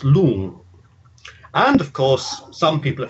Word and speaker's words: long: And the word for dragon it's L-O-N-G, so you might think it was long, but it's actually pronounced lung.